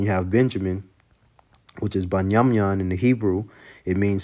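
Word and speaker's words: בנימין: Then you have Benjamin, which is Banyamyan in the Hebrew.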